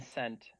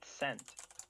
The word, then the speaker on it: scent: Is the S or the C in scent silent? Quit The C. it with all the freaky mumbo jumbo, Monty. The C is silent because you say the same kind of S in the word send.